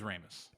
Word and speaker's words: Ramis: It is Ramis. It's It is Ramus. Ramis. Okay. Then me and my black friends have been pronouncing it wrong for a Yeah.